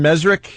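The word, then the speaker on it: Mezrich: We had our friend Ben Mesrick.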